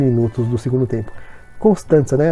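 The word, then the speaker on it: Constanța: Acho que o nome do time, apesar de ser Constanta, né, se escrever assim, acho que Constanza deve ser a pronúncia mais, sei lá, acho que é a pronúncia certa aí do time romeno.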